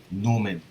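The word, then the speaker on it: gnomon: the tracking of the Sun was by a Newman it spelled G and om en but it's pronounced Newman and it's basically just a stick and the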